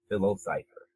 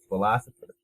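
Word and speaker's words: PhiloCypher: Jam, I was like, who is Philo Cypher? And then they were like, no, it's philosopher.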